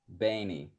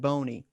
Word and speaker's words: Boehne: missed church how do you say your last name benny benny right on i'm sorry yeah i'm sorry for all the times in your life that people have said boney i was waiting for